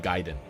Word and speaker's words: Gaiden: pirate music Ninja gayen he's saying ninja gayen but it's ninja Kaiden Ninja Gaiden is how it's pronounced